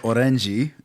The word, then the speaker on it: Orenjii: I don't want to mispronounce. The album's called Orenji.